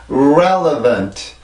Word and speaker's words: relevant: 안 나오고 나서는 틀린 발음입니다. 자, 다시 한번 해볼게요. relevant, relevant, relevant.